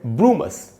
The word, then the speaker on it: brumous: ये अगर आप देखें, ब्रू में जो ऊ है उसको मैंने अंडरलाइन किया है, ब्रू। तो इसका मतलब ये हुआ कि यहाँ ऊ का साउंड ज्यादा है, ऊ पर स्ट्रेस है।